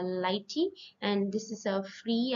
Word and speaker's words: lighttpd: and functionality and next this is pronounces uh Lighty and this is a